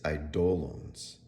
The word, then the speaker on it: eidolons: to pronounce quite honestly it's eidolons eidolons the second syllable is uh accented um and the this